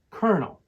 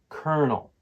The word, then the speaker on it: colonel: here's the fun part even though it's spelled like this it's pronounced kernel just like a popcorn kernel now let's talk syllables